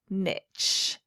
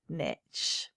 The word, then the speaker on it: niche: special and call it niche niche is spelt like quiche we don't say kitsch do we we say quiche and any linguist will tell you that this is pronounced niche and not niche so moving on with